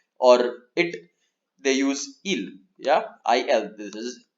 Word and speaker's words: ils: or it is flowers I el eel this will also be pronounced eel yeah I know you